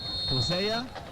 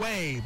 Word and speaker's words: Josue: As I see Hosea Bustamante. How do you pronounce his first name? Jose Bustamante is in. Josue Bustamante. They said he would play a little bit here.